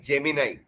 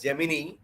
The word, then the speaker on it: Gemini: Go to Google and type Gemini. It should be pronounced not as Gemini, Gemini.